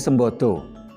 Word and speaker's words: Sambada: Sambada kalau dibaca O menjadi Sembodo.